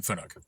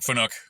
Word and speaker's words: Fanuc: So, there's your pronunciation on Fanuc. I like Fanuc because it's fun. And Nook. It's a fun Nook.